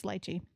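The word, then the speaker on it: lychee: Is it lyche? Litechi. It's litechy. Everyone listen up.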